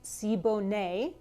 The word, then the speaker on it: Siboney: home bartender i found today's version of the sibo nay in the easy tiki cocktail book this cocktail first appeared in trader vic's book called rum cookery and drinkery in 1976. it's pronounced sibo nay today's cocktail was updated by antonio martinez from